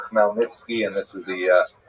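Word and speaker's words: Chmielnicki: You may have seen his name spelled C H M E I L uh you know something like Nitski something like that. That's uh just the Polish spelling. The pronunciation is definitely Melnitzki and this is the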